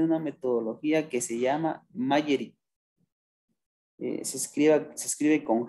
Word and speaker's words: Magerit: Por ejemplo, en España, el gobierno de España tiene una metodología que se llama Magerit. Se escribe con G, Magerit, M-A-G-E-R-I-T, Magerit, que es para gestión de riesgos del Estado.